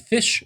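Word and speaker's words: Phish: called first tube it's by the band fish spelled with ph and um this was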